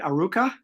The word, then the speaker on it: Arukah: So tell us a little bit about, am I pronouncing it right? Aruka?